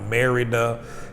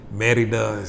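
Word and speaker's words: Mérida: that's where i met now merida how you would say it from americans perspective merry does how these the locals say it so feeling love with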